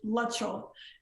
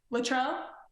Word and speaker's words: Luttrell: oh yeah it's like everybody I meet says my last name wrong what do they say Latrell yeah a lot of